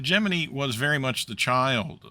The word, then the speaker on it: Gemini: If you're like me, you desperately want to pronounce the name of this program as Gemini, but the NASA history is quite explicit that the project itself used the pronunciation Gemini.